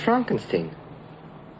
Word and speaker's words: Frankenstein: Frankenstein. Frankenstein. You're putting me on? No, it's pronounced Frankenstein.